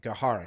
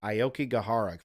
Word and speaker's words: Aokigahara: Why do people commit suicide in the Aokigahara Forest? Gahara. Damn it, Gahara. Shit, I thought I was saying it right. Aokigahara Forest.